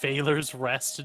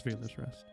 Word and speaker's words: Veiler's Rest: Is it Valor's Rest, Drew? It is Veiler's Rest.